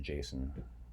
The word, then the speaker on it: JSON: Oh, you're supposed to pronounce it Jason, even though JS on.